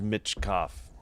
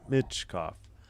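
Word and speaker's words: Michkov: Oh, I guess it is Mitchoff. Okay. Mitchoff. Mat Mitchkov. Emphasis on the Mitchoff.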